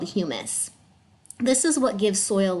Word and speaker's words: humus: plants and animals called humus. So it's spelled like hummus, and if you go to the grocery store and you've ever had hummus and it's delicious, humus is totally different.